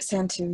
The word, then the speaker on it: Santu: Is that how I should pronounce it? Yes, that's right, Santu, yeah.